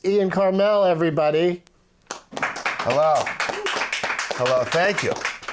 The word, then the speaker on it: Karmel: Karmel is right. You got right. 100% right. Now let me throw you some alternate pronunciation.